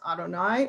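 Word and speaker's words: YHWH: of god you have the yhvh yahweh which we pronounce adonai and you have elohim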